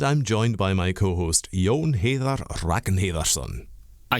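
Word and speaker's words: Jón Heiðar Ragnarsson: And I'm joined by my co-host Yon Hatherar Rakenherson. Again, excellent pronunciation, sir. You had it completely perfect. Yes, my name is Yon Ha Raknansson and I am the sales and marketing manager here at Lavashio.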